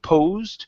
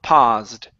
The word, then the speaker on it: paused: Instead of poosed, it's an a sound. P. Paused.